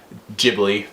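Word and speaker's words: Ghibli: the greatness that is Studio gibli jibli however you like to pronounce it I say gibli I started saying gibli for a while I stopped saying gibl because it sounds like a giblet what's a giblet I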